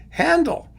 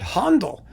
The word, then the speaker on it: Handel: that back in, but in English, it's just a regular A without any diacriticals, right? And you just call him Handel. Of course, some people would like to pronounce it Handel, which is, of course,